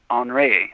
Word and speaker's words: Henri: we can help well the French pronounced Henri on ray and you know he's